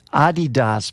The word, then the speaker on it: Adidas: And it's pronounced Adidas, by the way.